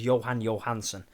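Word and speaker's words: Jóhann Jóhannsson: The guy who composed the music was Johan Johansson. I wanted to clarify that because I said his name wrong before.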